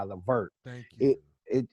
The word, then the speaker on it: Levert: ever say it right cause i say baby i'm ready by gerald vert but it's really baby i'm ready by levert thank you it it